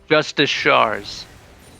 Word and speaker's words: Justicars: I guarantee you that he does not pronounce it that way. Yes, Got it. Okay. it's Justicars.